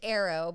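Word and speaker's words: ahero: my personal Instagram is it's pronounced Arrow but it's actually spelled a hero a-h-e-r-o underscore did I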